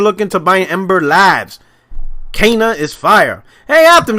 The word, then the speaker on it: Kena: said sony should look into buying ember lives cana is fire hey after how you pronounce the name i know you pronounced it correctly is it it's cana yeah like so the devs came out and